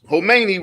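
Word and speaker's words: Khamenei: his name yeah um the K is silent you got it homei rebuffed the Outreach Saturday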